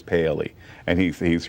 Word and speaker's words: Paley: me uh Reverend William I said Paisley it is Paley and he's he's right